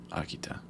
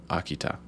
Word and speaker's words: Akita: it akita but the the t pronounced like that isn't how you do it in english it's just ta so akita that's what